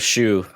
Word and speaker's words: Hsu: HSU. How do you pronounce that? You've seen her in other stuff. Shu.